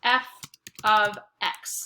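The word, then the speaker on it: f(x): it like this and it's pronounced oops it's pronounced f of x so we write f with a parentheses x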